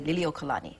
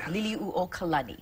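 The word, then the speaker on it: Liliʻuokalani: For the longest time, I said her name wrong, and I would say Liliuokalani, but yeah, it's Liliuokalani.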